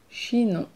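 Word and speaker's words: Chinon: really loved this one she know she know it's all the nasal sounds hard for you so all the are they difficult for you to pronounce let me know this is a great word to practice with she know she know and you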